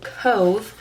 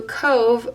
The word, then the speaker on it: Cobh: Thursday we went to Cove which is weird because it's spelled Cobh which I will never understand but it's just their language how they speak we went to a Cove which is where the